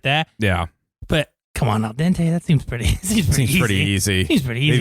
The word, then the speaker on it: al dente: Yeah, but come on, al dente.